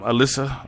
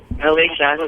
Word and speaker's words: Alicia: Um I I always say her name wrong. Um Alyssa. Alyssa. Alicia. Alicia.